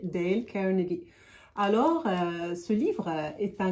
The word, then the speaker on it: Dale Carnegie: Prononciation française, je vais prononcer en anglais Dale Carnegie.